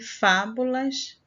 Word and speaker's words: fábulas: é a penúltima sílaba e fábulas Essa é a antepenúltima sílaba é a sílaba mais forte Ok página 38b agora